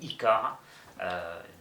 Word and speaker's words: Ycare: mot pour pour créer ICAR tout simplement ou ICAR on accepte les deux prononciations selon selon la région voilà d'autres métier il